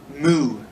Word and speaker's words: mu: all right next one moo muu moo or Mew I guess you could say I you say Mew Mew is fine either way I don't care